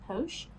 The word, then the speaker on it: poche: Pocket is a borrowing of the French word for bags, pronounced poche, and when it entered medieval Anglo-Norman, it took on a harder pronunciation of pock.